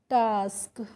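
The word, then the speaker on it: task: ए को आ की मात्रा से प्रोनाउंस करना है। तो टी को हमने पढ़ा टा और एस के को स्क तो यह हो गया टास्क।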